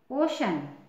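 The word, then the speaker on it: ocean: और एग्जांपल देख लीजिए ओ सीई ए एन ओशन देखिए सी के बाद ई ए है ठीक है ना तो इसका भी उच्चारण क्या हो जाएगा श ओशन अब फोर्थ रूल देखिए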